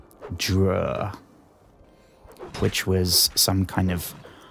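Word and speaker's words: Dreugh: It's like d r e u g h dur, which was some kind of half man, half octopus demon.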